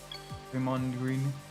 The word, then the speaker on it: Draymond: Draymond Green. The Mon is pronounced like a Jamaican. Welcome to Jamaica Mon. Yeah.